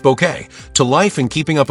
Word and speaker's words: Bucket: Best known for bringing the unforgettable hyestent bucket, pronounced bouquet, to life and keeping up appearances from 1990 to 1995, she became a national treasure and earned two BAFTA nominations.